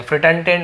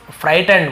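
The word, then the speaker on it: frightened: Terror, horror और इसे हम फ्राइट पढ़ेंगे, फ्रिटेंटेंड, ऐसा ना, फ्राइटेंड बोलते हैं उसे, फ्रिटेंडेंड, फ्राइटेंड यानी डर जाना।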